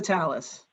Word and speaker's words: Tallis: say your last name it's pretty close it's 2 tallis talis there we go and and the the